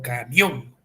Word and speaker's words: camión: vocal y más específico Cuál es la vocal donde radica la mayor fuerza de voz Es camión o camión Ah entonces como es